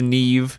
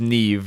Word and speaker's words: Niamh: uh this out of the way yes it's pronounced Neeve it's spelled n i a MH I don't know I don't know why don't ask me it's not my fault but this is Neeve just to be crystal clear in case anyone's